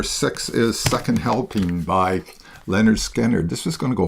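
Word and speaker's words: Lynyrd Skynyrd: I mean, they were they developed I mean, it's hard to follow up uh their first album pronounced Leonard Skannard, but I think they did a really great job.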